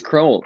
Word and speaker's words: Crowell: It's Crowell, pronounced like bowl. Yes, exactly. Crowell from Glenmorangie and Steve Meyers.